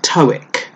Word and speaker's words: TOEIC: English for international communication that's pronounced TOEIC that's what I'll be